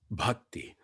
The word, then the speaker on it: bhakti: dialoguing with darren because he doesn't say bhakti he says bhakti the true pronunciation okay well let's let's